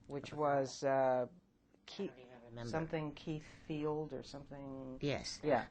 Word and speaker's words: Keith: was uh Keith something Keith Field or something. Yes. Yeah. But there's it's a May Keefe K E I T H. So the pronunciation of the name through centuries obviously became Kit.